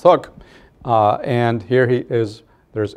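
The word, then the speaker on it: Huk: insurgency known as the Hook Rebellion, H-U-K, but pronounced Hook.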